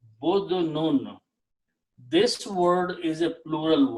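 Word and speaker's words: بُدْن: Okay, the if we take the same three letters and pronounce with a dhamma here. Okay, badnun.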